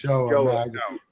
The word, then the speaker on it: Joah: It's Joah. Joah. Joah. He said it's pronounced like Noah with a J.